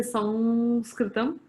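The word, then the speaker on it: संस्कृतम्: sound and all that the word sanskrit itself is pronounced in quite a few ways so in the south they will say sam skritam and they claim monopoly on the correctness of the anuswara okay because it is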